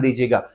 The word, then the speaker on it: these: अब देखिए, जब एक से ज्यादा ऑब्जेक्ट्स होंगे तब आप यूज करेंगे दीज, और इसमें स्पेशली प्रोनाउंसिएशन पे ध्यान दीजिएगा। दीज ऐसे लंबा खींचना है, दीज।